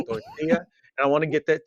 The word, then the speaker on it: tortilla: the El Torito yeah I don't want to say torella because they're L's in my head I want to say tortilla and I want to say it correctly and I say tortilla I want to get